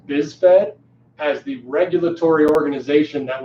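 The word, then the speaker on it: BISFed: an organization it's called biz fed the is Fe D this vet the Paralympic Committee sort of pronounced this vet has the regulatory organization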